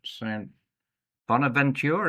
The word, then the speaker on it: St. Bonaventure: Zoe Richardson's at Siena College, and Hannah Richardson is at St. Bonaventure. Is that how you pronounce it?